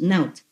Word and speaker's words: Not: And over here I have written like Naut, N-O-T, pronounced Naut.